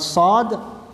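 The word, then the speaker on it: ص: Kemudian sod, pengucapan sod ini hamas, berdesis.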